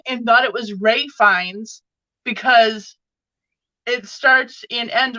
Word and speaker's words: Ralph Fiennes: And I'm looking at it and I'm like, why are they calling him Ralph Fiennes? And no, it's not Ralph Fiennes, it's Ray Fiennes, but it's Ray Fiennes. So I literally learned that I've been saying his name wrong my whole life because well, yeah.